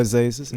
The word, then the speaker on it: Azazus: It's your boy Azazus at the Talk Your Walk podcast.